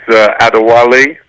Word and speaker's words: Adewale: name because I take pride in trying to pronounce people's names correctly so help me with your name it's a Diwali action well okay I was kind of close